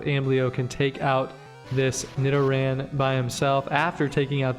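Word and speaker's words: Nidoran: there we go and now we've got a Nidan to face and I'm finally pronouncing that correctly and that appears to be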